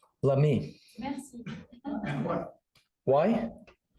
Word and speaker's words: Lamy: said, no, it was Lamar. No, c'est là. And you said today, Lamy. So from now on, what should I, Lamy. Merci. and what? Why? Because that is how you say it in French.